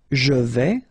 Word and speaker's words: je vais: Je vais. Final S not pronounced here, and remember when you combine this A and E together, you get the sound E, so really open.